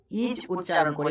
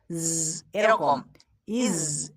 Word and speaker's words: is: ইজ আমরা অনেকেই ইজ উচ্চারণ করি, এটা কিন্তু ইজ নয়, আমরা বর্গীয় জয়ের উচ্চারণ স্বাভাবিক করছি না, এখানে আমাদেরকে জেড এর সাউন্ড করতে হবে এরকম, ইজ।